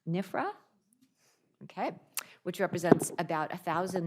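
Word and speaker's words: NFPRHA: And then finally, we have Claire Coleman, who is the CEO of the National Family Planning and Reproductive Health Association, pronounced NIFRA.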